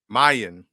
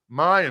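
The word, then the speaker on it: Miyan: about how do you say William's first name Mayan Mayan okay yeah and here's the thing we know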